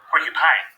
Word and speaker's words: porcupine: Porcupine ends with the sound rhymes with line.